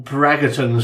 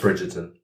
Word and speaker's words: Bridgerton: But the issue I take is when you get all Braggertons out there because of... It's pronounced Bridgerton.